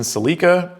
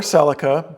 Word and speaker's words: Celica: Next up, we have Andrew with a white 7th generation Celica or Celica. Before you Americans freak out on me for pronouncing it wrong, just take a breath, will you?